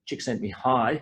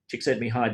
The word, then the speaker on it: Csikszentmihalyi: Flow is something that Csikszentmihalyi, that's how you pronounce that name, Csikszentmihalyi discovered with a colleague, Gene Nakamura, in 2002.